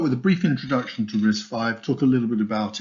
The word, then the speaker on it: RISC-V: risk five history so it's pronounced risk 5 not risk v um it's an open